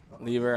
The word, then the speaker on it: Liebherr: I drive a Liebherr. Lever, okay.